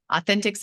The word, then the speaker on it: Authenticx: It's Authenticx is spelled like the word authentic with an X at the end.